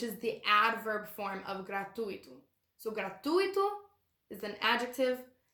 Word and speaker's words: gratuito: Also, note the pronunciation of the word gratuito. The stress is on the U. So as a foreigner, it's very natural to want to say gratuito, but it's not.